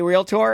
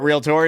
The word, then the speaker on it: realtor: I say it like I like emphasis on the tour. Yeah, tour. Emphasis the tour.